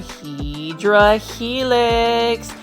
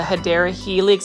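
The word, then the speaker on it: Hedera helix: they almost remind me of a hedra helix or the correct way to say it is a hadera helix English ivy now that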